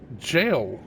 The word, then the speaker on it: gaol: a e l and this is jail cave which is g a o l I might be answering